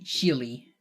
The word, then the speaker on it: Chile: not because i like people say chili right as the country but i usually say chile just because it's closer to chile which is how you say on spanish and of course there's